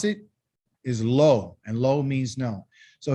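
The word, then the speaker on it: לא: this it's negative okay and how do you pronounce it is low and low means no so here's some examples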